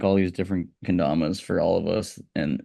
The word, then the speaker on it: Kendamas: I saw that you recently were did something with Sweet Kindamas. Is that how you pronounce it? Kendamas.